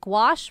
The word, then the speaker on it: gouache: French word. So obviously pronounced as though many letters don't exist.